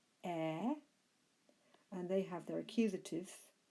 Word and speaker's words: eta: What makes them a little bit more complicated than the second is that some first declension nouns end with an eta, the letter we pronounce air, and they have their